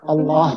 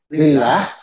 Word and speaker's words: الله: Cara membacanya huruf Allahnya itu ditebalkan. Huruf Allah ditebalkan. Kecuali ketika setelahnya kasroh, maka dia ditipiskan. Misalkan Allah itu tebal, kemudian kalau lillah, maka dia ditipiskan.